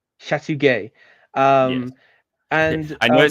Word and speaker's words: Chateauguay: And we're going to just want to talk about the Battle of the Chateauguay, Gay. and Sorry, this one, but it is that gay, yeah. Chateauguay. Chateauguay.